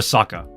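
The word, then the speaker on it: サッカー: In Japan, we call it, well, in Japan, they call it soccer, or saka. You don't pronounce the R because the R is silent.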